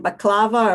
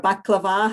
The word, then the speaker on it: baklava: again apologies for pronunciation baklava or baklava however you want to see it is our